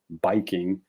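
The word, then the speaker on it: バイキング: call it a viking but then the japanese people can't pronounce v so it becomes biking which i gotta say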